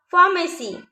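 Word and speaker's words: pharmacie: Here we find that the letter E is coming after the letter I. So here we are pronouncing only the letter I. We are not pronouncing the letter E. Okay. So if the letter E find after the letter I, so it will be mute.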